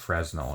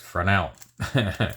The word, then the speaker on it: Fresnel: And of course, I always bring up the Fresnel lens, which yes, I thought people were mispronouncing before they don't pronounce the Z, but uh apparently that is the correct pronunciation. It is not Fresno, it is Frenel.